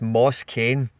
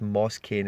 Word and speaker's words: Moise Kean: I'm sure there's another way of saying moist keen that the Italians say, and it's Moss Kane is the kind of way. Also, it's been an Italian accent, but it's Moss Kane is how they say it.